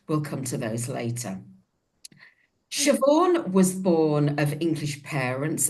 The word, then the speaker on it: Siobhan: Siobhan. Right? Yeah, okay. Siobhan. Yeah, it's nothing like how it's spelt, is it? Really? Right, Siobhan. No, no, it's one of those Irish names.